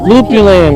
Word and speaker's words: lupulin: Lupulin, yeah.